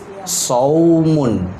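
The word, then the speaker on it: صوم: Maka kalimat saum itu tidak dibaca panjang, tapi dibacanya pendek, saum.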